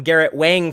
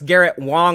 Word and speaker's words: Garrett Wang: him Garrett Wang people been call calling him Garrett Wang for years since we your Premiere he's like no it's Garrett Wong is how you say it and he actually